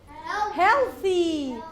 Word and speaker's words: healthy: But here, healthy, healthy. Here, this word has soft TH.